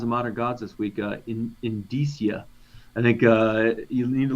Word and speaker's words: indicia: Indicia.